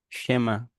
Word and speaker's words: Schema: Pronúncia é esquema? Hum, Esquema? Schema. Schema.